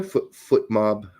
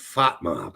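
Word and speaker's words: FotMob: I didn't know Foot Mob did pie charts like this. They like pie. Fat Mob. Not foot mob, fot mob.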